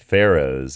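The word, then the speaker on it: Faroes: there and that's what that's where the word pharaohs and it's pronounced pharaohs and that's where the word pharaohs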